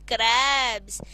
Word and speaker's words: crabs: When you pronounce helps, you get a sound of S at the end. But when you pronounce crabs, it gives a sense of Z at the end.